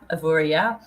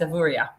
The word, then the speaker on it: Avoriaz: key question for you is it pronounced evorias or avoria officially it should be a avorria but that does depend who's who's saying it but yeah it is avorya but if you were